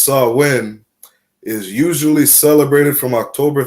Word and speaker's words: Samhain: Again, it said in modern times, Samhain, a Gaelic word pronounced Samhain, is usually celebrated from